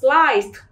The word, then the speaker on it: sliced: Nhưng khi thêm ED nữa thì khi tận cùng là S, thêm ED chúng ta phải đọc âm T, cho nên cả đoạn đấy mình sẽ đọc là sliced.